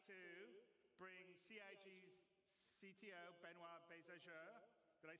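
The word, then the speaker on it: Benoit Beaugeard: And without me waffling on, I'd like to bring CIG's CTO, Benoit Bézageur.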